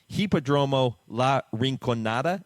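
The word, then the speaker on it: Hipódromo La Rinconada: and correct me if I I say the name wrong but hippodromo La rinonada is that how you pronounce it that's correct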